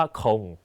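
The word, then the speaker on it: không: เลย ครับ ม.ค เอ่อ 0 นะ คะ ภาษา เวียดนาม ออก เสียง ว่า คง นะ ครับ ต่อ มา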